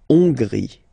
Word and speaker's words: Hongrie: So remember, H doesn't exist, so you don't pronounce it. So it starts with O-N, on, and then gris, final E, not pronounced. La Hongrie.